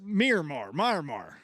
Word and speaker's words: Miramar: It's Miramar.